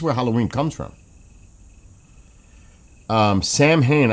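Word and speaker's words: Samhain: Um, Sam Hayne. I had to spell it that way because I would I didn't know that the AI would say it right.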